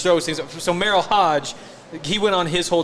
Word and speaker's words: Hoge: Is that how you say it? Merrill Hodge, Merrill Hogue? Yeah, Hoge. Hoge. No. However you said it. Hogue? No. Ho. It's not Hoge? Hodge. Hodge? Hodge. Yeah, Merrill Hodge.